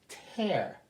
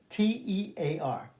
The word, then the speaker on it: tear: top of a gift tear t t e a r pronounced tear to rip up or tear crying tear same spelling different pronunciation different meaning row a line